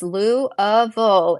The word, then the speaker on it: Louisville: It's Louville.